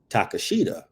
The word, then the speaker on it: Takeshita: at his name, it's like you would say Takashita. Yeah. Mm-hmm. Like that. That's how I was like, phonetically, it would be Takashita. But when you say take a shitter, Takeshita.